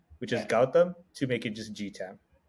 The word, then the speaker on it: Gautam: So my name is pronounced Gautam. Yeah. In the non-Indian American culture, I get a very different set of versions of it. I go from to Guatem to Gotham, like Gotham City Batman, to everything.